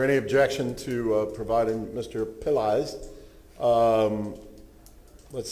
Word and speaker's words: Pillai: If you say pill and eyes together, that's how you say it. Pillai.